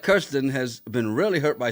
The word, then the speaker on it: Kirsten: Kirsten's name is pronounced like this. Kirsten.